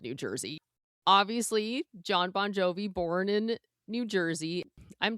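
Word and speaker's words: Bongiovi: His actual last name is is spelled B O N G I O V I. Bonjovi.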